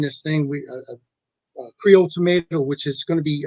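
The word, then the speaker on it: tomateaux: called Creole Creole tomato it's not like tomato that you it's spelled Cajun way it's t-o-m-a-t-e-a-u-x tomato so and you could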